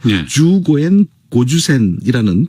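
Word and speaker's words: 十五円五十銭: 쓴 이제 장시인데 제목이 15엔 50전을 일본어로 발음을 하면요 주고엔 고주센이라는 발음이 되는데이 발음이 약간 어렵죠 이렇게 외국인가 특히 한국인은 일본인들처럼 발음하지 못하는 그런 문장이라고 합니다 그래서 그 당시 대학살극이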